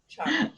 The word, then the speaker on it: Cheung: It's pronounced Cheung, sorry.